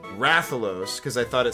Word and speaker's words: Rathalos: Call the Rathalos, official pronunciation, Rathalos, because I thought it sounds cooler, and, you